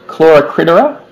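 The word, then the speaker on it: Chloracridara: green dragon, I'm going to get it wrong, Chloracadika, I think is how it's pronounced. And she, say it again? Chloracridera?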